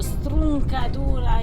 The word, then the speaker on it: Stroncatura: Stroncatura or Struncatura in Calabrese.